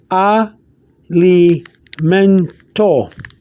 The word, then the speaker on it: alimento: uh if spanish or you pronounce it a li mentor means food that means food element